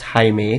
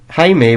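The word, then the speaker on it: Jaime: worked with red hat Jamie pronounced Hae due to being Mexican and blue hat Manuel haime was a pretty cool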